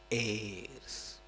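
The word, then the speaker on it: heirs: for chhatria chrias need airs you understand a h e h becomes silent because it's Greek and it becomes air when we pronounce it chrias needs airs that's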